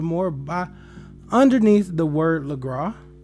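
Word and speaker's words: Lagras: by underneath the word legra you don't pronounce the s in this but right here on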